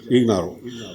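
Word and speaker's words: Ignarro: വച്ചിരിക്കുന്നത് ലൂയി ഗഹിനാറോ എന്നൊരാളാണ് ഹിനാറോ എന്ന് പറഞ്ഞാൽ ഐജിഎൻഎ ആർആർഓ എന്നാണ് ജിഎച്ച് എന്നാണ് ഉച്ചാരണം ഇഗ്നാറോ അദ്ദേഹം 2016ലെ മറ്റ നോബൽ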